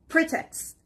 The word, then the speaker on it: pretext: Let's jump to the next word, which is pretext. Pretext. The stress is on the first part, pretext.